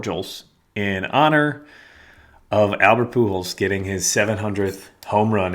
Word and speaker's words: Pujols: Do you actually pronounce the J in Portals? I think it's just, you don't say Pujols. Portals? It's not Pujols, it's Pujols, so that would be Portholes. But the J is the H, Portholes, not Portholes.